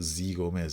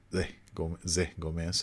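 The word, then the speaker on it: Zé Gomes: Oh, sorry, it's not Z Gomez, it's Zé Gomez, I think. That's Zé Gomez. I think that's how it's pronounced.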